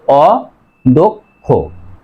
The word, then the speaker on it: অদক্ষ: আরেকটা উদাহরণ দেখো অদক্ষ, অ দ কয় মূর্ধন্য স, এই যে দর সাথে কি আছে অ, তারপরে কয় মূর্ধন্য স থাকার কারণে দর সাথে ওকার হবে, তাহলে অদক্ষ, অদক্ষ।